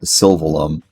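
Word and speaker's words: Sylvalum: Uh, let's go find where Celica went in Silum, or as they pronounce it in this in the game, Sylveum, which I I can't get my head around.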